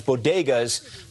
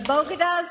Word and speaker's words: bodegas: talking about hispanic diversity she mispronounced the word for corner stores historically started by latinos in new york known as bodegas but that wasn't all as distinct as the bogotas of the bronx as